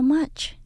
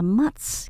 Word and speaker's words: much: từ các bạn nhớ mình không đọc là max khi đọc nhanh nhiều bạn đổi chữ CS âm Chờ thành ra âm S mình vẫn đọc âm chờ các bạn nhé much much thank you